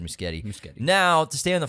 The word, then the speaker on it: Muschietti: moving forward may I correct you it's he pronounced it muskete not the musky Eddie this yeah Andy pronounces it muskete so it's